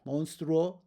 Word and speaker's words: monstruo: And then the last is going to be uo, monstruo, like monster. Monstruo in Espanol, going to end with that uo combination.